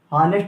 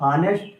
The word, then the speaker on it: honest: बट कुछ word ऐसे होते हैं इसी उच्चारण के आधार पर हम इसको आयन का प्रयोग करेंगे। जैसे कि यहाँ पर हम लिखे HONEST, इसको पढ़ते क्या है, हानेस्ट लिखा हुआ है, हाँ हानेस्ट, लेकिन पढ़ते क्या है हिंदी में, ऑनेस्ट पढ़ते हैं।